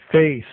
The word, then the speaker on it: face: Mas não pronunciem o E com som de I, nem com som de E, nem com som de nada.